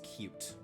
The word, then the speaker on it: Qt: There is a software called QT and it's pronounced as cute.